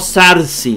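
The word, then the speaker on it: θάρσει: Tarsi, lo que dice Jesús, Tarsi o Sarsi, ¿verdad? Algunos lo hacen con Z, Sarsi, como es el moderno, la pronunciación moderna. Tarsi, pero a mí me gusta Tarsi.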